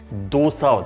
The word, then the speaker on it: dosa: It’s not Dosa, it’s pronounced as “thoug-sa”, this is dosa and this is “thoug-sa” So, Dosa is the correct pronunciation and Dosa is the wrong pronunciation.